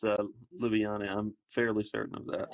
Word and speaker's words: Ljubljana: He's Slovenian, and it's Ljubljana.